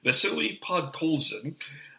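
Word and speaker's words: Vasily Podkolzin: The actual pronunciation was Vasili Podkolzin.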